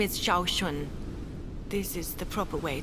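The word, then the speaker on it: Sean: feel so dis are you all right Miss shun my name is Shaun this is the proper way to address someone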